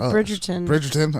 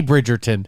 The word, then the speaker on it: Bridgerton: do i do stupid yeah it is like bridgerton i was about to say say bridgeton say it right now the most recent one